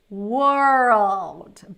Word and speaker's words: world: These two are super tricky because we have the R and the L together. And that's what makes this word so hard to pronounce, because girl, right? Then you have to put the R.